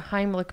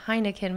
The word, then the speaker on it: Heimlich: i don't mispronounce the heimlich maneuver they said don't say heineken maneuver that's an alcoholic if